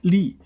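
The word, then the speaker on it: 吏: one is history uh the third one is Lee yeah because it is it's pronounced Li uh by now that means uh a government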